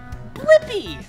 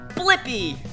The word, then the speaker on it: Blippi: have to do is search for my name blippy yeah let's spell it together ready b l i PP I blippy good job now you know how to say